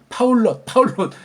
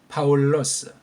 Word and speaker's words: 파울로스: 파울롯 그렇게 발음하는 건 틀린 발음이에요. 파울러스. 그러니까 스를 부드럽게 해줘야 되겠죠. 부드럽게. 파울로스.